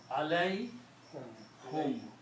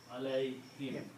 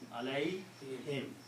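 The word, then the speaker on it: عَلَيْهِمْ: Okay, so for tajweed reason we pronounce it this way, alai him, not alai whom, alai him. It's easy to pronounce alai him because the ya sound is the sound of kasra here.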